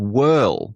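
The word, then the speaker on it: Worle: They were living in a place called Whirl, which is spelled differently to how it's pronounced, and that's a village on the northeast edge of Weston.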